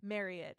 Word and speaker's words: Marriott: Um, so like, you know, on the flip in the spring, I worked with Marriott or Marriott is how I learned it's pronounced.